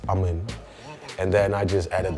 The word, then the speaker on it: Aman: That's a Punjabi name. It's pronounced as Aman.